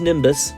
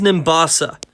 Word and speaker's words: Nimbasa: embor once I reached Nimbus Nimbus come on man it's pronounced Nimbasa I encountered Team Plasma